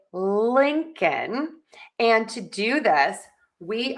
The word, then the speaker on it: Lincoln: How do you pronounce the name Lincoln? I hear so many people, so many of my students say Lincoln. And that's not correct. We are going to say Lincoln.